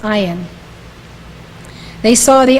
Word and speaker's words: Ayn: in unfold that's spelled Ayn but it is pronounced iron they saw the iron unfold step by step to the spheroat until